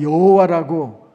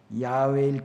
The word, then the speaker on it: 야훼: 나올 때마다 하나님의 이름 야훼를 그대로 부르지 않고 아도나이 주님이라는 말로 대체해서 불렀습니다 그리고 세월이 한참 가니까 히브리어는 원래 모음이 없는 글자기 때문에 나중에는 그 글자를 봐도 뭐라고 발음하는지 모르게 되었습니다 예전에 우리가 여호와라고 하나님의 이름을 불렀지만 학자들은